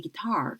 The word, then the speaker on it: guitar: playing 이라고 했는데 이 guitar 같은 경우는 지난주에도 출제했던 문제죠. 그래서 지난주 풀이할 때 guitar 해서 뒤에 이음절에 강세 들어간다고 여러 번 강조해 드렸었는데 이번 주에 또 나왔습니다.